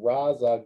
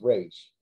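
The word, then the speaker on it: Ra's: going to train with raza ghoul i was like okay well you're pronouncing his name wrong and this is a this is a multi-million dollar movie you can't get the name right it's rage so yeah it makes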